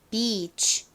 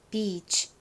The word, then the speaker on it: beach: 발음은 beach 였죠. beach. 가운데를 길게 발음해야 한다라는 거 꼭 기억해 주시고요.